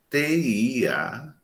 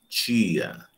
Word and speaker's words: tia: Quando eu vou pronunciar esse T diante de I, eu tenho um chiado, tia. Nós chamamos isso de palatalização. O I, ele contamina o T. Então, eu digo tia, tia, palatalizo.